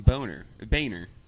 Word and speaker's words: Boehner: They always called him Boehner. John Boehner. Do you remember him? No. He was in. He's either a senator or congressman. Boner sounds right, though. He pronounced it Boehner, but it was absolutely spelled Boner.